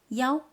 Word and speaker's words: 幺: Sometimes, especially in phone numbers, one is pronounced yao to avoid confusion.